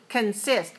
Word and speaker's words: consist: co and SI st consist consist has two syllables and it's stressed on the second one so we don't